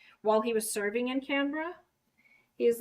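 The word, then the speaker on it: Canberra: capital city of um canra and it's not spelled like you say it it's spelled like canara and he made sure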